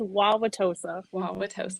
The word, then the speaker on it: Wauwatosa: names of the towns out there yeah it's wauwatosa and we keep saying hosa okay so i